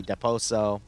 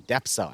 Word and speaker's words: Depso: is going to be deposo excuse me depso I always want to put an extra syllable in his name because that's why